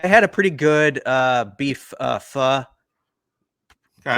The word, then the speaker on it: pho: I had a pretty good beef pho. Okay. Correct pronunciation, right, Bruntz?